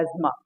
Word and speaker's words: asthma: अक्सर आपने सुना होगा अस्थमा सॉरी, अस्थमा जो है वो हिंदी में बोलते हैं हम लोग, बट इंग्लिश में इसका प्रोनाउंसिएशन है एज्मा।